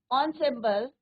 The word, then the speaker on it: ensemble: एनसेम्बल्स नहीं बोलना है बच्चों, इसको क्या बोलना है? Pronunciation ensemble। ensemble things here instrument considered as a group।